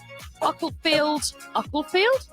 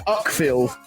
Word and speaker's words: Uckfield: Simon Kane, Ucklefield. I'm going with that. Spencer Mitchell, lots of love I thought for you him. were asking me. I thought you'd said it wrong. No, it's Uckfield.